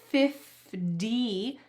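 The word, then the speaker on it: fifty: When we say 50, the T changes to a D sound in American English. So listen when I say it. 50-50. This is the same as the word party.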